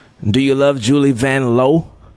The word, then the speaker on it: Vanloo: It's Vanlow. Yeah, she said in her country, which is uh Belgium, it's pronounced the O is O. So, it's really Van Low, but she just let folk get away with it.